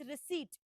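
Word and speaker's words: receipt: मात्रा not even छोटी ई की मात्रा इट्स रिसीट सो now what does रिसीट mean you know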